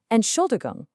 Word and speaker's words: Entschuldigung: Entschuldigung.